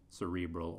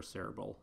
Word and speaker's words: cerebral: into bilateral cerebral hemispheres cerebral or cerebral I hear it pronounced both ways so here's the brain